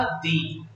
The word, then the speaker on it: the: Pronounce करते हैं या दी, मुझे बताइए। जी बिल्कुल, आप सही हैं। अगर हम वॉवल से डील कर रहे हैं, if we are dealing with vowels, हम इसको दी प्रोनाउंस करते हैं।